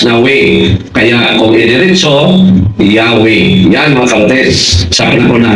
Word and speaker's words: Yahweh: Ang JHBH ay kinilala sa simbahan kasi ang pagbigkas niyan ay Jahwe or Yahweh.